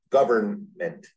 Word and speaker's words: government: Federal government, federal, like the guy's name, federal government, gov, earn, like a coffee urn, mint, government.